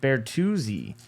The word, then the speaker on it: Bertuzzi: That is a Tyler Bertuzzi. Nice pronunciation.